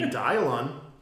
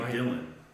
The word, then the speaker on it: Dylan: her every single day well it's cuz your name is spelled with a Y so obviously has to be a y sound right can't be Dylan has to be dialon it still messes me